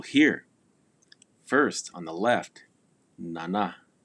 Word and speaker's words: nana: Note on pronunciation. Typically, for the most part, all Numu words, the stress or the accent is placed on the second syllable. Nana. It is not nana, nana. No, it is nana, man.